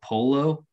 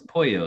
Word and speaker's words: pollo: But, you know, English speaking person would be like, oh, polo. But, you know, it's pollo. So if they wrote it in the English, it would be like this, pollo, P-O-Y-O.